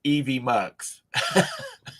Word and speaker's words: EvMux: Actually, it's pronounced Evie Mux.